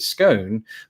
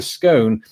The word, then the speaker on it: scone: Almost uniformly in America, I hear people pronounce it scone, but in England, we're divided over the pronunciation. It's either scone or scone.